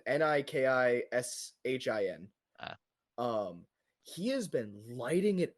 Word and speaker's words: Nikishin: No, Nikitschkin, Nikishin.